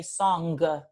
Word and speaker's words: song: Like to sing a song, we say song. We spell it with a G, but actually we're not really pronouncing the G, right? We don't say song, we say song.